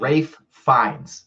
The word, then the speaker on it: Ralph Fiennes: Rafe Fiennes is how you say his name.